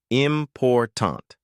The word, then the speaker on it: important: For example, in the word important, we stress the second syllable, important.